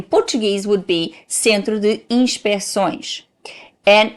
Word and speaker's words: inspeções: Inspeções, because in Portuguese, when you do that C, even though may not be fully pronounced, is there to open the vowel. If you take that C, you close the vowel and becomes Centro de Inspeções.